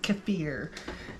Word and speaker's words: kefir: kind of looked up uh Googled how to pronounce k e fi R and the proper way to say it just cfir um anyway so in here every night before